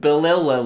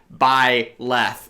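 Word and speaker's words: Byleth: like to pronounce it balilla left because apparently I can't figure out how to say bye left even though it's literally be why laughs bye laughs dude come on with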